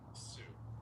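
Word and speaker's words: Sioux: Um Okay, let me see how you pronounce it. Let's see. Sue.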